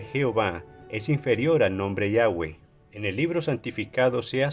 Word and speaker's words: Yahweh: después este ofreció su argumento a favor de Yahweh como la pronunciación correcta y original.